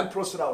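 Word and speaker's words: λαμπρός: 그러니까 램프로스라고 그래요. 똑같이 발음 똑같죠.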